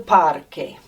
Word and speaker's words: parque: Look, it's spelt with a QU. No way we're going to say a qu sound. We're always going to say a k sound when we see las letras QU en español. So, el parque.